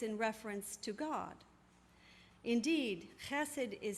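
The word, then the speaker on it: חסד: the Hebrew Scriptures is a word that is pronounced hesed which means it's sometimes translated as loving-kindness and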